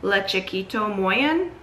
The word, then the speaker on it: Le Chiquito Moyen: Yeah, so it's the light green Le Chiquait Moyen is how you pronounce it, I believe.